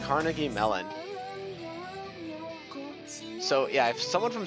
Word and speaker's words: Carnegie Mellon: Also, in a pretty interesting situation, I finally learned how to pronounce Carnegie Mellon. I'm pretty sure I was saying like Carnage Malone for like the longest time because I was